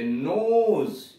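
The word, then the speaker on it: nose: यदि पूर्ववर्ती स्वर ओ हो तो ओ का उच्चारण ओ होता है और अंतिम ई का कोई उच्चारण नहीं होता है। जैसे नोज, NOS, नोज, ई सबसे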